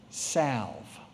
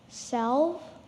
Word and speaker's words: salve: jacob your word is sav sev save may i please have the definition a healing ointment may please repeat the word sav is there any alternate pronunciations salve self salve s a l v